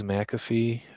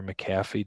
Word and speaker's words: McAfee: users for mac um i don't we use mcafee or mcafee depending on how you say it at roosevelt